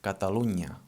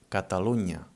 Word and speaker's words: Catalunya: Whenever you find an N and a Y together, this is the ñ sound. For example, in Catalunya. Catalonia in Catalan is called Catalunya, and this unya thing, so it's the NY. It's written together and it sounds like this, Catalunya.